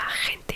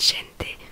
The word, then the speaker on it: gente: Ma professeure tout le temps elle me reprenait, non Sima c'est pas rente, c'est gente.